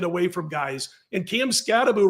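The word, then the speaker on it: Skattebo: to check out cam scaboo I'm going to tell you right now I know it looks like scabo he pronounces it scabo this guy is a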